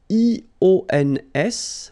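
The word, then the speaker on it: ions: So now let's see nous, and nous goes like I-O-N-S, okay? And it should be pronounced ion. Remember, final S is not pronounced.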